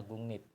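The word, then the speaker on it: 국립: dan berakhiran dengan m bisa merubah R menjadi n Jadi dibacanya gungnip gitu terus yang ini gungnip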